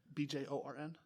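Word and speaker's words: Beorn: But you could also run this bear that would work in the deck, which is Bjorn the Fierce or I believe that's how it's pronounced. B J O R N?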